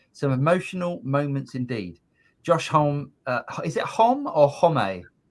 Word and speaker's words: Homme: Josh Homme, is it Homme or Homme? I thought it was Hom. I think the E is pronounced as well. I think it's Homme.